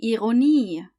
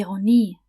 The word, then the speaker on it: Ironie: You see how in English you would stress the first syllable? The irony, the industry. In German, however, you just stress the last syllable. Die Ironie, die Industrie.